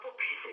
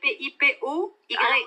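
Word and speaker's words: Pipoye: Alors, c'est pas Popeye, c'est Pipe. Pardon? Mais bon, ça peut prêter en confusion, il n'aime pas les épinards non plus. Ça s'écrit P-I-P-O-Y-E.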